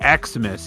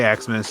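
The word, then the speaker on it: Xmas: it's okay to say eximus you just don't pronounce it as X you say Christmas when you see it it's just an abbreviation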